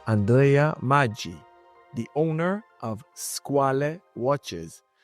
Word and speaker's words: Squale: shark CH isal the the pronunciation is French because the word is French is because in Italian is squalo with o squal is